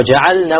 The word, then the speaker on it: جعلنا: Now ja'alna, we have to be very careful. The lam must be clearly pronounced because lam and noon have similar makharij, right? So many times it's eaten up.